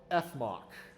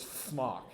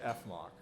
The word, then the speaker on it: Fmoc: alternative to Bach and it's called ethmoc nobody pronounces it flock okay nobody says Smock they just say F mock all right you can